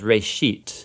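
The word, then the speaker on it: ראשית: a hebrew word uh it's pronounced ray sheet uh and it just means beginning the first part of genesis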